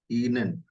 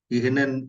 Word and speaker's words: Ihnen: वी, एक बार थोड़ा pronunciation पे ध्यान दीजिएगा। वी गेट एस ईनेन। ईनेन। इहनेन इहनेन ऐसे नहीं बोलना। ईनेन बस।